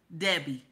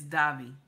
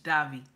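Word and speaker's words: Devi: Debbie. And the name in the middle is not Debbie, it's Davi. That's how they pronounce it in their language, Davi.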